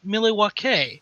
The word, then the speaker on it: Milwaukee: Indian name yes Pete it is actually it's pronounced milake which is Al doin for the good land